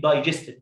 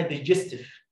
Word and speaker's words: digestive: دايجستيف. الكلمه دي شفتها مدرس مشهور جدا او قناه مشهوره على اليوتيوب بيقول عليها ديجستيف، ما اسمهاش كده يا جماعه. كلمه دايجست معناها يهضم، اي ساكن اي، داي لونج اي، الحاله الاولى من اللونج